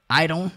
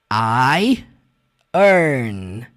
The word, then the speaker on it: iron: Essa palavra, né, que você talvez pronuncie iron, você vai juntar duas palavras aí para você pronunciar ela, tá?